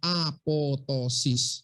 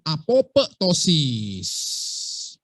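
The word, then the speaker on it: apoptosis: kematian sel satu namanya apotosis bacanya apotosis tulisannya apotesis bacanya apotosis bukan apotesis sama Nanti kalian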